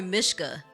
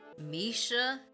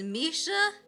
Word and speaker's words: Misha: I I don't know why I want to call her Mishka. How do you say this name? I'm going to look it up. I want to cuz I looked at I wanted to say Mishka. Misha. That's what it is.